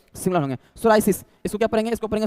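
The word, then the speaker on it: psoriasis: सोरायसिस। इसको क्या पढ़ेंगे? इसको पढ़ेंगे सोरायस। पी यहां पर साइलेंट होगा। ठीक है? पी यहां पर साइलेंट है। इसको पढ़ेंगे सोरायस।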